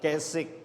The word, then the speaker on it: Keswick: Kung babasahin mo ay Keswick pero ang pronounce niyan ay Kess Kess conference at pinanukala diyan higher